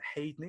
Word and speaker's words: Haydney: Today I'm speaking to the amazing Myron Haydney. Have I pronounced that right, Myron, or have I absolutely butchered that surname? Now you've said that correct, mate. That's perfect.